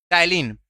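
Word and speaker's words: ptyalin: टाइलिन, PTYLENE, spelling देख रहे हैं ना? पी तो रहेगा, पी साइलेंट रहता है। टाइलिन बोलते हैं।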